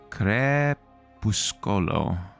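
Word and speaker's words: crepuscolo: Uh creuscolo with a hard C and the E is more marked.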